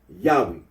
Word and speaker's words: Yahweh: that of those who regard his name as anciently pronounced Yahweh, like the Samaritans.